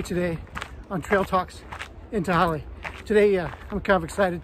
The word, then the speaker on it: Tehaleh: Nobody knew how to say it. Tehaleh. Tehaleh tamale.